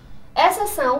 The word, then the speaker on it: exceção: Exceção. Pronuncia-se sem o X no meio da palavra.